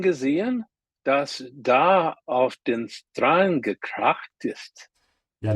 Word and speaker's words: Strand: Hast du das große Ding gesehen, das da auf den Strand gekracht ist? Yeah, remember the S and T, when they come together like that, it becomes a sh. Strand.